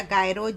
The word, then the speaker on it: gyro: जायरो या गायरो जो आपकी कंट्री में इसका प्रोनाउंसिएशन होता है, क्योंकि बहुत सी कंट्रीज़ में जे या जी नहीं बोला जाता, तो उन जगहों पर इसे गायरो कहा जाता है।